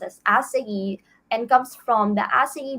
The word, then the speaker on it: açaí: all know that again it is pronounced as asa and comes from the